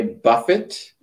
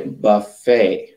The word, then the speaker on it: buffet: We don't say buffet, we say buffet. So the T is silent.